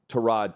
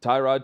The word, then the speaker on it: Tyrod: that I had to get used to was Tyrod Taylor, because Tyrod Taylor for years. Tyrod Taylor, and then it's Tyrod. But when the announcers say Tyrod, everyone thinks everyone's saying it the wrong way